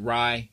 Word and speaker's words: Rai: watch is um uh r ray or Ry I pronounce it Ry you know just kind of short for Samurai but uh his first